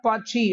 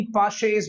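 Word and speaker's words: Paasche: ओ पाछी आया पाछी, इट इज नॉट पाछी, इट is actually पाशेज method. This is the correct pronunciation guys.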